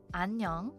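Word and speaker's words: 안녕: this is the word for hello hi it's pronounced anong which is this is the kind of casual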